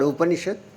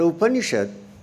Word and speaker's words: Upanishad: Because it consists of Upa, Ni and Shad. 3 syllables split.